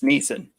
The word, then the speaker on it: Neeson: neeson there's no l it's neeson don't say yeah you you had all the opportunity to tell me before i googled it no i was telling you that our draftee has a silent l in his name he's liam neeson oh